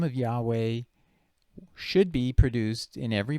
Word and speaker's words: Yahweh: so the name of yahweh should be produced in every bible it was uh i'm gonna just use english letters w-h-w-h usually it's understood to be pronounced yahweh but some people say